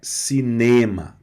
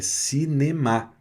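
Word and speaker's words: cinéma: Cinema, a tônica não é cinema, é cinema, tá? Então, a tônica na última sílaba, né?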